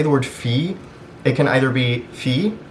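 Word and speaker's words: فيه: it's actually just pronounced fee it's actually the same as just fee essentially i would say that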